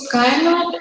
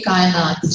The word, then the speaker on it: Kainat: It was just that pronounced with its vowels compressed instead of undulating, so that it ended up rhyming with why not.